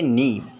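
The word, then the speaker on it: knee: चौथा वर्ड है नी। इसे कनी नहीं पढ़ते हैं क्योंकि इसका के लेटर साइलेंट है और इसके मायने होते हैं घुटना।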